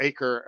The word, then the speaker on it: Acre: major crusader city was akra or acre as we would pronounce it which is now akko